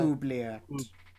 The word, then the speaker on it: oubliette: To the north, you see carved in great stonework is a place called the Oubliette, I believe. Is that how you pronounce that? Oubliette.